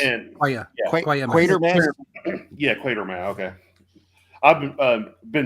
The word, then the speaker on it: Quatermass: It's Quatermass.